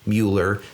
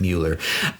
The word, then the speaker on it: Mueller: Mueller, spelled Mueller. Half half people pronounce it Miller, half the people pronounce it Mueller.